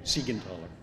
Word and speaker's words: Siegenthaler: Yeah, my name is normally butchered, but that was a very, very fine job. Thank you, Siegenthaler.